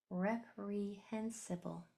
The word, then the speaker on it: reprehensible: So if we write it syllable by syllable, we have ep, rep, e, re, rep, re, n, hen, rep, re, hen, si, reprehensible, reprehensible, reprehensible.